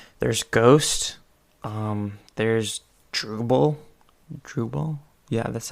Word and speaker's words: Drupal: create shopify themes there's ghost um there's drupal drupal yeah that's how you pronounce it um so that's another way to